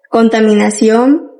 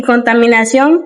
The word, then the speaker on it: contaminación: Y por último tenemos la palabra reutilización y contaminación, que son palabras agudas porque la sílaba tónica es la última. Terminan en N, por eso llevan tilde.